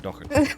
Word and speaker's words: Doherty: The way that the Irish actually pronounce it, Doherty. Say it. Doherty. Doherty. That's funny. It is. It doesn't look the way that it sounds, but nonetheless it sounds that way.